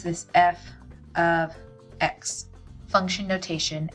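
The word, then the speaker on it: f(x): Again, this is called, you pronounce this f of x. Function notation, f of x.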